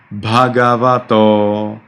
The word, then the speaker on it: Bhagavato: So you need to pronounce it correctly, okay? So Bhagavato, you can go with the sound a little bit lower so that it's easier for you to remember that.